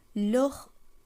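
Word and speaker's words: les: আমরা তাদের বলতে চাই সেই ক্ষেত্রে আমাদেরকে লোহ উচ্চারণ করতে হবে কিন্তু বানানে অবশ্যই একটি এক্সট্রা এস যুক্ত করতে হবে এই বিষয়টি কিন্তু আপনারা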